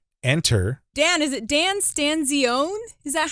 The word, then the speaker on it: Stanzione: and the italian stencilian but uh i'm a stanzione yes i love it when there are family disputes on how to spell or pronounce last names my name's been butchered my